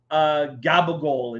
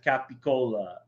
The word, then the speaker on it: capicola: hear people, you know, they don't want a cannoli, they want a ganole, and or you know, they want gabagool instead of capicola.